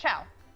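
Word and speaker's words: ciao: Yeah, it's Chow.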